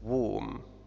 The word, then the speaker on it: womb: womb تنطق بدون ب، فهذا الحرف لا ينطق، نقول womb مثل climb.